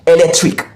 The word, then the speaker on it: electric: We find it the syllable before the suffix, which is the ik, okay? The ik. So before the ik, the syllable before, that's where we have the stressed syllable. And in this case, lek is the syllable before the syllable that you have ik in it. So lek is the word, the stressed syllable. So this is pronounced electric, electric, electric. Did you notice? Pronounced at a higher pitch, longer and slower.